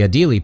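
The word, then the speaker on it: Adélie: the penguins he chose the adily penguin that's how you pronounce that french word hans is one of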